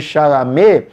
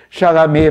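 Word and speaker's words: Chalamet: nome mais simples né porque até para os americanos é meio complicado pronunciar o nome dele em francês né timote chalam ele poderia chamar-se timote chalam por exemplo né mas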